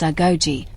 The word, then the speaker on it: Agojie: The origins of the Agojie, pronounced Agojie, are debated by historians,